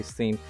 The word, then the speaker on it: Sean: Sean has seen. I know it's most commonly pronounced Sean, but I occasionally say seen as well.